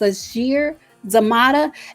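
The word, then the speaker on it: Sasheer Zamata: did hire comedians i believe her name is pronounced sashir zamada and then later they hired leslie jones who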